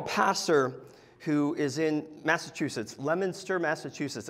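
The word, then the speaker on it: Leominster: who is in Massachusetts lemonster Massachusetts it's spelled Leo Minster but if you're from Massachusetts it's l lemonster and if you have advanced New England speech this order it's lster so uh I wouldn't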